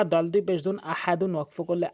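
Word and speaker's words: أحد: হামজা জবর আ, হা জবর হা, দল দুই পেশ দুন, আহাদুন ওয়াকফ করলে আহাদ। এখানে হা হলকের মাঝখান থেকে চাপ দিয়ে উচ্চারণ করবেন, আহা, দাল দুই পেশ দুন, আহাদুন ওয়াকফ করলে আহাদ, নিচের দিকে সাউন্ড।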